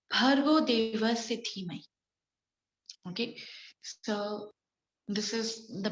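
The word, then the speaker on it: भर्गो देवस्य धीमहि: The pronunciation, Bhargo Devasya Dhimahi.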